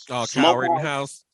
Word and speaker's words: Rittenhouse: It stands the same place that this Kyle, how you pronounce his name? Kyle Rittenhouse.